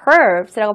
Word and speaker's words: curves: 중요한 건 이 커브라는 단어가 발음을 커브라고 하는 게 아니라 R 발음해서 curves라고 발음한다는 거죠.